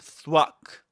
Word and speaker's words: thwack: This is thwack begins with the same sound as the word think. Thwack.